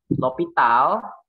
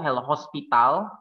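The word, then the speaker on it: L'Hôpital: L'Hopital, ada yang bilang tuh L'Hospital, tapi kayak gini kan, L'Hospital. Sebenarnya ini S-nya ini nggak dipronounce, makanya ini O-nya ini jadi O dengan asterik kayak head, topi di atas.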